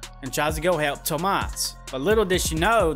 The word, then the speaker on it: Tomas: You have the main bad guy, which is Guillermo, and the other bad guy, which his name is Thomas, or he pronounces it Tomas.